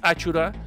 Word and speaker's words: Achoura: pronunciación correcta del nombre aunque tú lo ves como a choura es achura porque así se llaman esa noche que les digo que festejan la